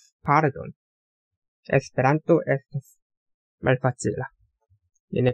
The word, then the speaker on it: Pardon: 음절 한글은 전부 이런 식으로 되어 있는데 그러면 여기서는 룰을 강하게 읽고 여기는 단을 강하게 읽고 여기는 발을 강하게 읽고 쌀 룰 돈 당 돈 바르 돈 여기서는 Esperanto estas malfacila.